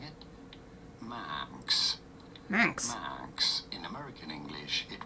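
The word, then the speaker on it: Manx: it's slightly different Max so like man with an x on the end instead of I've always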